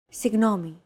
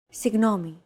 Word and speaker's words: Συγγνώμη: Συγγνώμη. This word is often romanized like this. Συγγνώμη. This character isn't pronounced using an English G sound at all.